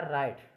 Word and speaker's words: write: दूसरा राइट, WRITE राइट, आर से पहले डब्ल्यू आ गया इसमें डब्ल्यू साइलेंट होगा, राइट।